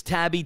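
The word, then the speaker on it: Taibbi: Matt, M-A-T-T, I think it's Tabby, T-A-I-B-B-I is how you pronounce that cat's last name.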